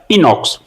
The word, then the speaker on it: Inox: इसका सही प्रोनाउंसिएशन यही होगा, पीवीआर इनॉक्स।